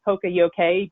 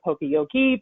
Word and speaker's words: poka-yoke: The actual pronunciation is poka-yoke, but you'll hear poka-yoke, poka-yoke.